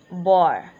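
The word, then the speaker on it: barre: Bear pronounced as boar.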